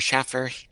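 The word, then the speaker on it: Shaffer: But Hardy and Schaefer, or Schaffer, Hardy pronounces it Schaffer in interviews for some reason, It might be sort Schaffer, of, yeah.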